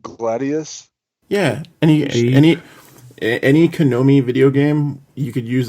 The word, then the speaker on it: Konami: Contra thank you man AKA any actually any Konomi um or or there was also what is it Gladius yeah any any any Konomi video game you could use that code and